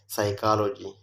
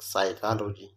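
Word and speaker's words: psychology: که چیرې د پی توري د جملو په شروع کې د ان ټي اس له تورو څخه مخکې راشي نه تلفظ کېږي. اگزامپل نیمونیک سایکالوجي، نیمونیک سایکالوجي.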